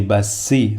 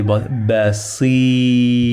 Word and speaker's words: بسيط: and then we say Basi, the sound of I, and they say Basi, the sound of E. Again, this is long vowel, and then in the end we say Basi, again, the strong T.